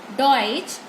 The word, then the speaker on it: Deutsch: Ich spreche डॉइच, डॉइच हम German को बोलते हैं, किसे बोलते हैं? जर्मन में, जर्मन लैंग्वेज को डॉइच बोलते हैं.